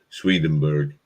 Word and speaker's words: Swedenborg: just want to say in defense of um swedenburg did i say it right it's yep it's